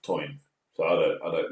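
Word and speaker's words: Tywyn: I pronounce it Tin. My dad My dad always said it was pronounced toin.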